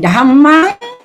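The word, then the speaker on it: Dhammaṃ: Saranang, then Dhammang, then Sanghang. Okay, so the Sanghang, okay, we do the first one first. Buddhang Saranang Gacchami. Remember the GAC, double syllable, we pause. Gacchami. So, Buddhang Saranang Gacchami. Dhammang Saranang Gacchami.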